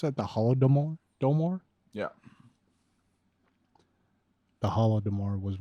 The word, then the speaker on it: Holodomor: widgets faster the holodomor and how do you pronounce that the holodomor domore yeah the holodomor was worth it ukrainians